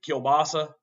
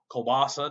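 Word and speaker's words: kielbasa: But dude, kilbasa or kbasa, depending on which pronunciation you want to use.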